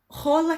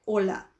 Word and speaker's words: hola: Então, eu já tinha avisado para vocês que era para acabar as brincadeirinhas com, né, rola que tal. Não. Se H não tem som de nada, é hola. Tá?